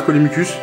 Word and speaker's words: Colimucus: Ou je prononce mal. Non, non, c'est ça, Colimucus.